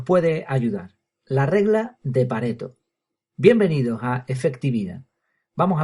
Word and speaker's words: Pareto: La verdad es que suena mucho, muchísimo mejor Pareto con dos t porque parece italiano, Pareto. Pero por mucho que me he empeñado en buscar a ver si la pronunciación era como yo había dicho, pues tengo que reconocer que no me equivoqué. es Pareto.